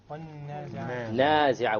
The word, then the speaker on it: وَالنَّازِعَاتِ: Where's the first mad? Nazi'a. What type of mad? Natural mad, because there's an alif preceded by a fatha.